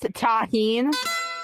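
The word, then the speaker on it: Tajín: First off, it's pronounced taheen.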